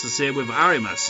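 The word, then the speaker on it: あります: it's the same with arimas it's not arimasu it's arimas it's like that silent letter that you freaking getting quite a lot of English words isn't it silent bloody letters I mean you can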